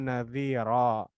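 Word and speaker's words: نَذِيرًا: Karena ada fathatain mad iwad di sini. Kalau di sini dhamma idgham bi gunnah ya, yang terakhir mad iwad. Jadi basyirau wa nadhira.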